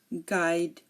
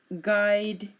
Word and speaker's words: guide: sometimes silent as well U is often silent after G and before a vowel um for example colleague guard guest guide guitar here notice you are not hearing the U in any of my pronunciation again colleague guard guest guide and guitar now W if a